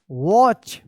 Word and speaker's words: watch: silent रहता है, wrist, watch, WATCH, watch, यहां पे जो है ना T साइलेंट है, watch, and another, ANOTHER,